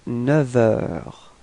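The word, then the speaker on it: neuf heures: in this case, because we will change the sound, so we won't pronounce the F, but it would sound a bit more like V, like a V. Okay, so if you make the liaison, it would sound like il est 9 heures.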